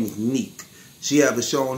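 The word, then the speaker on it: Nique: This beautiful young lady right here, her name is Neek. She have a show on the internet called Neek at Night. And that Neek is spelled N-I-Q-U-E, Neek at Night. Man, look, very intelligent, wise, sexy, black woman, man.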